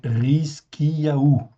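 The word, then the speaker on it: Hizkiyahu: Même chose, en fait, ici, comme vous le voyez, prime H, en fait, ici, ce sera toujours comme un R. Donc, Rizkiyahu, okay, c'est Ézéchias. Donc, on met les noms,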